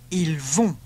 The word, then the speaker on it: ils vont: Ils vont. Notice all the plural ones end in ont and are pronounced on.